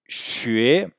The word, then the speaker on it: xue: Alors, le U, derrière le X, le Y, le Q et le J, il se prononcera U, sinon il se prononcera OU.